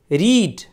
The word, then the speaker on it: read: इसके तीनों फॉर्म लिखे तो सेम जाते हैं, लेकिन उसका प्रोनाउंसिएशन अलग होता है। फर्स्ट फॉर्म को हम रीड पढ़ते हैं, सेकेंड फॉर्म को रेड और थर्ड फॉर्म को रेड।